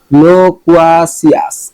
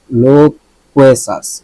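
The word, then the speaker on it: loquacious: ঠিক আছে কিনা আমি লোকুয়াসিয়াস, লোকুয়েসাস, লোকুয়েসাস। দেখেন আমি কোয়াসিয়াস বলতেছিলাম, এটা কি লোকুয়েসাস। একই মানে বানানের কিন্তু ভিন্ন ভিন্ন উচ্চারণ হয়। এটা CIOUS, সিয়াসও হয়, সাসও হয়।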